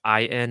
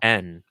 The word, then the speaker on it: Enn: do have is that i pronounce um like i n and e n the same so i want to call you in but i feel like it's n right it literally just